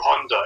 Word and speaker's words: Honda: directing for this movie by uh uh isero Honda is that how you pronounce it is Honda yeah so it is topnotch it is some